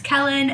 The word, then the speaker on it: Kellen: to my YouTube channel my name is Kellen and it rhymes with melon and today we are